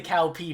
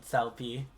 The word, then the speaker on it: Cao Pi: Everyone's made the cow pee joke.